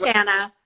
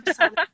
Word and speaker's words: Krisana: So, well, and I think it looks like from the comments, everyone's discussing how it's pronounced Krisana instead of Kristiana. Yes, it's Kristiana.